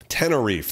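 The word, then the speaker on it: Tenerife: Tennif. Tenneref, that's how you say it.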